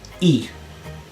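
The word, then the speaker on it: ie: And it's simply pronounced E.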